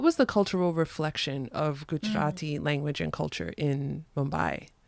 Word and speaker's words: Gujarati: me about speaking gujarati in and am i pronouncing it right gujarati yes you are okay okay tell me about